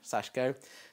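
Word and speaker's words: Sashiko: So she'll be doing Sashko. Is that even how you say it? Yeah, Sashko.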